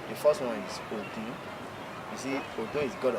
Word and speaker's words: Ogun: to the meaning of Ogun. Mm. O-G-U-N. Mm. That's different meaning and different pronunciation, but the same spelling. The first one is Ogun.